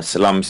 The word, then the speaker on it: Salamis: at the end, I Is that the guess. right way to pronounce it? Yeah, Salamis, yeah. Very Salamis. Yep. important city actually, yeah. Otherwise, As it sounds like the sausage.